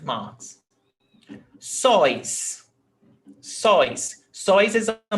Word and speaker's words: sóis: Sóis. Sóis. Sóis is a monosyllable tônico. It's not sóis, okay? It's not 2 syllables. It's not sóis, it's sóis, one syllable.